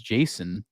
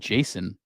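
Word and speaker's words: Jacen: there's a baby and uh his name is Jason but it's spelled j-a-c-e-n which is another reference to the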